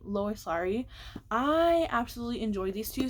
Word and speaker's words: Lois Lowry: And that was the next two books in the Givers Quartet by Lois Lowry. I think that's how you say her name, Lois Lowry.